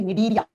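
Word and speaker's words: Cnidaria: या तो आप इसे बोलिए निडरिया। देखो जब प्रोनाउंस करते है ना बेटा निडरिया सी जो होता है वो साइलेंट हो जाता है बेटा।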